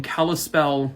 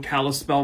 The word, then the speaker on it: Kalispell: 24 years old and he is living in Kalispell Montana I looked up the pronunciation I hope I said it correctly Jacob